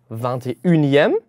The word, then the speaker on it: vingt-et-unième: haben wir vingt-et-unième. Achtung, hier steht zwar nur ein un trotzdem wird es wie das weibliche une ausgesprochen.